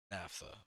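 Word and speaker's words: naphtha: you say that actually I'm curious pronunciation Napa NAFA okay not nap it stalled again didn't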